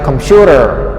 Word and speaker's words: computer: answer this is my computer not your not yours so here they did computer computer computer so the stress is on the second syllable computer computer computer computer